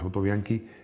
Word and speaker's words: Autobianchi: veces olvidado pero que fue clave el autobianchi se escribe autobianchi pero es sa virgen italiano es autobianchi prímula era un coche con motor traversal como